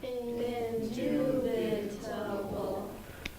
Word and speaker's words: indubitable: Indubitable. There are 5 syllables in the second syllable gets accent.